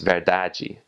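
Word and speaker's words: verdade: spelled the same but you have an e at the end right after that final D so it's pronounced very dodgy or the the word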